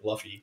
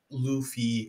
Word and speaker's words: Luffy: was like um when it came to like fluffy and stuff pronouncing oh yeah so many people got triggered because of that and one point at one point someone commented like it's pronounced Luffy and like he he did like the whole